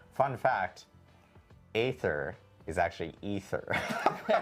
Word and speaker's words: Aether: And then we learned that Canon and Diablo I despite it being spelled AE T H E R, it's actually pronounced ether.